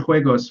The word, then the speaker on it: juegos: It was pointed out to me that that's pronounced with an H sound, not a J sound, so I apologize. Okay. When you're playing Los Keyword Juegos with all of your